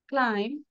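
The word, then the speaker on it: climb: and then silent B after M এম এর পরে যদি বি থাকে সেটা আমাদের সাইলেন্ট থাকবে ল্যাম্প থাম না ক্লাইম্ব হোম হোম লিভ ক্রাম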